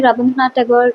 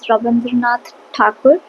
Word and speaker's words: Rabindranath Tagore: एंड यार मुझे लगता है कि रविंद्रनाथ टैगोर जो है ideally it's नॉट the correct pronunciation. I think the correct pronunciation is रविंद्रनाथ ठाकुर, the Bengali one, but okay, like for